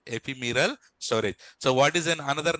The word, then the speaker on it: ephemeral: Ephemeral, not imperial. Imperial blue. So, ephemeral storage. What is that? Ephemeral storage. So if you remember that also, no problem. But concept should be there, right? Ephemeral storage.